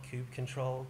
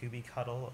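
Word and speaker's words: kubectl: the tests here are Cube CTL cube control QB cuddle or cubicle depending on your pronunciation of choice tests and the reason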